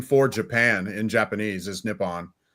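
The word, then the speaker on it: Nippon: literally the name for Japan in Japanese is nipon it's pronounced yeah so um maybe they are maybe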